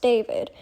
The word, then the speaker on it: D4vd: of artists found to be terrible people, is David, spelled D4 VD. For those that are unaware, something happened recently with the artist David. Again, spelled D4V D, but it's pronounced David, who is a very popular pop artist.